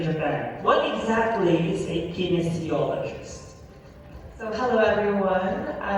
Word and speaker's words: kinesiologist: She is 27 years old, a kinesiologist and CEO of a non-profit organization.